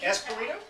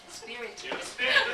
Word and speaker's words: Espiritu: And I don't know how to pronounce it right. Esperito? Espiritu. Espiritu.